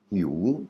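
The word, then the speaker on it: หิว: La prononciation et l'intonation est un peu particulière. H parce que la première lettre, c'est la lettre hip. Il faut arriver à faire sortir le l'air de la gorge.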